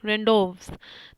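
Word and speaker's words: rendezvous: यहाँ पर जैसे कि लिख रखा है, देखिए इसमें आपको जेड और एस को साइलेंट रखना है, तो इसको हम क्या पढ़ेंगे, रेंडोव्स, ठीक है, रेंडोव्स।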